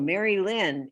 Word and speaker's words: Merrylin: Merrylin. Just Google Merrylin, Merry, like Merry Christmas, Merrylin. I love that's how I always remembered how to spell your name.